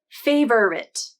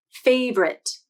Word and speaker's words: favorite: dictionary website the first few transcriptions show three syllables favorite and you have to scroll to the very bottom to see the two-syllable transcription favorite so both are shown on this website now